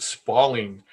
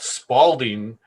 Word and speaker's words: spalling: pronunciation of the word spalling. Spalding is spelled sort of like uh the word falling. It is not spalding.